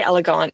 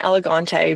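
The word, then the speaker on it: Élégante: So I've asked people at the Burn Boutique because they say elegant, and I was saying elegante because I hang out with British people all the time because I live here. But they say elegant, so I adopted that.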